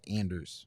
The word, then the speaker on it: Anders: accepting the American pronunciation or is it actually pronounce Anders for what is worth uh K Kayla of the the pr staff said Anders and said that's what he wants to be